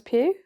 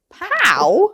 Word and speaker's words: Pugh: Is it Pugh? Pugh. Pugh? It's Florence Pugh. How else would you say her name? Pughu. Pughu. Huh? Pow. I don't know. Cha-ching. Poe?